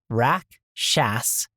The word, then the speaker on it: Rakshasa: Rakshasa. Correct. Rock shawsa.